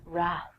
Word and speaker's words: wrath: Trek fans out there, Wrath. Famously, the Wrath of Khan. I have no idea what the Wrath of Khan is, but I will tell you that the W is silent, so don't say it.